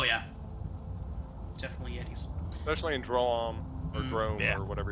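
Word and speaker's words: Droaam: Well, I think in like an interview I heard with Keith Baker, I think he said that he pronounces it Drome. Drome. Yeah. That's kind of how in his head it sounds.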